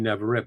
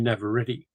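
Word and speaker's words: Navarrette: I pronounced that as Indie Navaret, but it's actually Indie Navareti.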